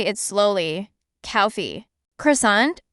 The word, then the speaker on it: croissant: Croissant, in French, croissant.